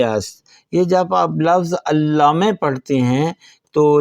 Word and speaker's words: علامه: یہ جب آپ لفظ علامه پڑھتے ہیں تو لام کے اوپر دیکھیں تشدید ہے، تو ہم اس کو تلفظ کریں گے علامه.